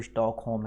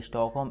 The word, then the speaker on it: Stockholm: की राजधानी है वो स्टॉकहोम है। ठीक है, STOCKHOLM। ठीक है, स्टॉकहोम एल साइलेंट होता है, तो इसकी राजधानी स्टॉकहोम है।